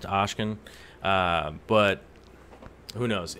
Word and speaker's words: Oscen: it's pronounced Oscen, but who knows?